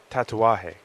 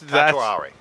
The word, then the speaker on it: Tatuaje: Tatuaje. Tatuaje. Yeah. See, that's Tatuari. no. There's no R in it.